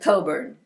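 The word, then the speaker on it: Cockburn: you do the interpretive dance anne's relationship with coburn sadly ron uh which has to relate to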